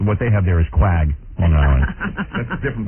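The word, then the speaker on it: Quogue: You spell it Q-U-A-G? That's misspelling. Spelling. Yeah, these guys screw me up every day. It's Q-U-O-G-U-E, isn't it? Yeah, that would be Quag. Right. But what they have there is Quag, Long Island.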